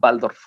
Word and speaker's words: Waldorf: Waldorf, así con W, Waldorf se escribe, okay. Waldorf, en alemán Waldorf.